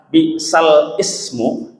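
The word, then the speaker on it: بئس الاسم: Kalau di dalam yang biasa kita baca, dalam surat Al-Hujurat ayat 10 ada kata bi'sal ismu. Kita bacanya apa? Bi'salismu, ya. Nah, dibaca bi'salismu.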